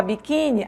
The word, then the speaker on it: biquíni: eu disse ainda pouco na palavra biquíni a sílaba tônica é i certo nesse caso terminou